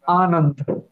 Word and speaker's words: Anand: Um, is your name Anand? Is that how you pronounce that? Yeah, like you are right, but Anand.